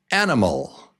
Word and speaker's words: animal: Did you say 3 beats and syllable number 1 is the strong syllable?